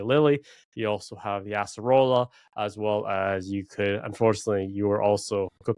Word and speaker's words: Acerola: wasn't 100% sure, but the actual pronunciation is Acerola. Okay, I was gonna like completely butcher it. Acerola. It's Acerola.